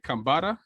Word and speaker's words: Kambata: uh aura is gold by kambata that's how you say it make sure you